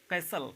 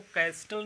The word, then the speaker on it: castle: कैसल का मतलब महल होता है, ठीक है, इसको कैस्टल नहीं कहेंगे, कैसल पढ़ेंगे, ठीक है, इसको कैस्टल नहीं कह सकते हैं आप, इसलिए ये टी यहाँ पे जो साइलेंट रहेगा इसको कैसल बोलेंगे।